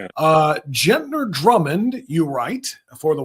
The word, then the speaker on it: Gentner: our podcast here, they don't know anything about Gentner Drummond. Why don't you lay it out for us? Uh, yeah, sure. Uh, let me correct the pronunciation here. He actually pronounces his name Gentner.